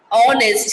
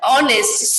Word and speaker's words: honest: words as our, honor, honest. Here we are, the H completely silent. So we start with the letter, what we start with the O, that our, honor, honest.